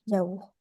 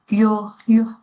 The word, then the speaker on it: yaourt: Toutefois, je bois de temps en temps des yaourts. Avec mon petit déjeuner, je bois généralement du jus d'orange ou Jus d'orange. S 是不发音的 jus d'orange ou du multifruit.